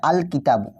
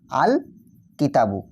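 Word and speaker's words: الكتابُ: আল কিতাবু। দেখো এখানে যে লামটা লিখলাম লামটা কিন্তু এখানে স্পষ্ট ও আলাদাভাবে উচ্চারিত হচ্ছে। দেখো আমরা বলছি আল কিতাবু।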